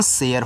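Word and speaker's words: share: तो ये जो आपका ए है एक ही मात्रा अप्लाई करेगा ना यानी य और र ऐसे कर शेयर हो जाएगा।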